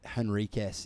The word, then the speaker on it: Henriques: Well, I say Moises Henriques, but that's probably not consistent to how my dad says it and his descendants before him. So, but yeah, I would say Moises Henriques, basically just how it's spelt, or without the I in the first name.